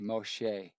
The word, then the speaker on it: Moshe: If I pronounced Moses in Hebrew, it'd be Moshe.